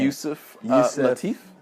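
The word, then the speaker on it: Yusef Lateef: Yusuf Lateef.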